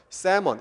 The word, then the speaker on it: salmon: salmon, 이때 L은 발음이 안 돼요. 셀몬이 아닙니다. salmon, 연어죠.